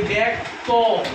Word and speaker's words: ব্যক্ত: এই যে জ ফলা আছে এরপরে দেখো এই ব্যাক তো শেষে কি উচ্চারণ করতেছ? অ, তাই না? তাহলে জ ফলার পর যদি অ উচ্চারণ আসে তাহলে উচ্চারণ কি হবে? এ।